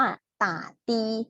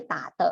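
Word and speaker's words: 的士: หลาย เสียง ตัว เนี้ย รวม กัน อ่าน ว่า ต่า ตี ไม่ ใช่ ตา เถอะ นะ ตา ตี ก็ คือ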